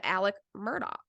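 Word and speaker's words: Alec Murdaugh: gonna get clarity about how the hell you say this man's name and every single one of them said Alec Murdock yep yeah I really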